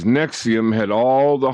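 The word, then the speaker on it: NXIVM: call the Vanguard nixim pronounced Nexium as Deep Pockets outposts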